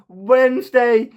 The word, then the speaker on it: Wednesday: you saying but D but D is Silent not VN Wednesday it's me it's the